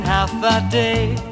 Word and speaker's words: Hafa Adai: it's as easy as one two three just pronounce it I said half a day sing it with the beat that say it